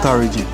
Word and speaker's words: Wli: and sometimes you know you kill the W and pronounce it like V but no is v